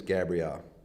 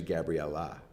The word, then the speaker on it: Gabriella: uh your name is Gabrielle yeah that rhymes with Al lubel my name my name is Alabama oh but your name is actually Gabriella it's Gabriella Gabriella so it doesn't really